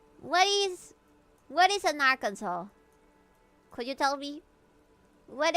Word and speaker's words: Arkansas: I you're lucky that I know how to pronounce Arkansas because I've seen so many people mispronounce it and get corrected. But people say Aransus. Is it our Kansas or is it Arkansas?